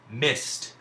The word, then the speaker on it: missed: and jumped Ju MPT in this case the D is actually making the sound that we associate with the letter T now this isn't a